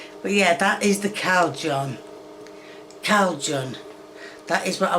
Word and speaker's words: Cajun: time to time, but for the life of me, I cannot understand where the L is coming from. This is Cajun seasoning, if you were unaware. I'm sure you weren't. And somehow, Kay is pronouncing it Calgon. Now look, you call this Cajun seasoning, I'm not gonna be that upset, but Calgon, that's 2 letters that don't exist in this word.